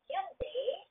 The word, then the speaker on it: Hyundai: Like, for example, if you are from Korea and then you will transport uh, Hyundai. I don't know if I pronounce it correct. Huh? It's Hyundai uh, type of cars.